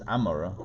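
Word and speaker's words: עמורה: Now, God is saying that Sodom and Gomorrah, Sodom and in Hebrew it's Amorah, whatever. I don't know how it got a G, but whatever.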